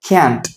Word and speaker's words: can't: ஸோ காண்ட் அப்படின்னா நம்ம இங்க வாசிப்போம், காண்ட் அப்படின்னு நீங்க வந்து ப்ரொனவுன்ஸ் பண்ணிக்கலாம். பட் ரொம்ப கரெக்டான ப்ரொனன்சியேஷன் வந்து கேன்ட்.